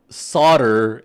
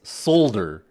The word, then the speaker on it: solder: this term, it's pronounced solder in American English, but it's solder. Like it literally like everybody else in the world pronounce it solder.